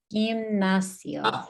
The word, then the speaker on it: gimnasio: Gimnasio. Sio. Yeah, that S-I-O, the I-O is a Sio. diphthong. It's 2 vowels that slide together, right? And we pronounce them together equally.